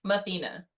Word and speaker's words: Mathena: Can you pronounce your name for me? Let me say it right. Mathena.